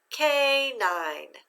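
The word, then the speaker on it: canine: cross out that e remember that e is silent now let's say the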